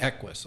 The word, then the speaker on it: EQUES: who we are and you pronounce it we pronounce it Eis although I've heard it pronounced about five or